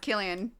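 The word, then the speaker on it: Cillian: Silly. No, it's pronounced Killian, isn't it?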